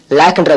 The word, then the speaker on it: lakh: LAKH லாக்ன்ற வார்த்தையில H silent, LAKன்னு உச்சரிக்கணும். அதாவது LAKனா லாக்னு அர்த்தம், இப்படி உச்சரிச்சா போதும்.